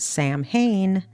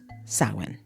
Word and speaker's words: Samhain: So long before Halloween had candy or costumes, there was sawen. It is spelled s a m h a i n. But don't pronounce it Sam Hayne. It's a common mistake. It's actually pronounced sin.